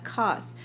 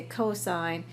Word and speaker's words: cosine: trigonometric ratio abbreviated as cost again we don't say cost we say cosine even though we spell it as cos that is the shortened form of cosine tangent a tangent is